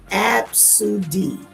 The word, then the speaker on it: ABCDE: Somebody said, I once met a kid named ABCDE, pronounced Absudi.